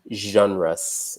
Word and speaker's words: genre: little bit about film genres and this is a funny pronunciation because we kind of the French pronunciation here so we say genre like garage etc so a few